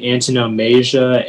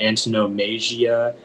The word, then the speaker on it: antonomasia: It can be antonomasia, antonomasia, antonomasia, or antonomasia. And it's Latin from Greek.